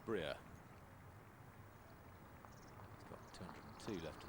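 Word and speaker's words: Brier: I'm afraid I was guilty of calling him Bry yesterday. Being a good Austrian, it's Breer.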